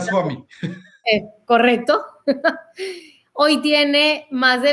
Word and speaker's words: Rangaswamy: Trabajó de la mano de diferentes expertos como el profesor Gary Lilien, Arvind Ranskau, ese sí, Dani, lo vamos a tener que pronunciar. Rangaswamy.